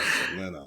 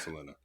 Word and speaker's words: Selena: Because that's how you pronounce her name, Selena. She's, a Texan, so they called her Selena.